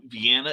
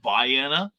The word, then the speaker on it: Vienna: towns uh down south instead of vienna it's viana um and uh uh